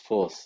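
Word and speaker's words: FOSS: I understand fos s normally pronounced force is an open source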